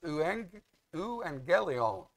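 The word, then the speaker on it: εὐαγγέλιον: But if you look at the word for gospel, it's pronounced euangelion. If you look at the A-G-G-E-L, in the transliteration of the Greek letters, it's A-G-G, but it is pronounced angel.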